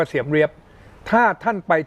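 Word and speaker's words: Siem Reap: เสียม ราช หรือ เอ่อ ภาษา อังกฤษ ออก เสียง ว่า เสียม เร เลี้ยบ ถ้า ท่าน ไป ที่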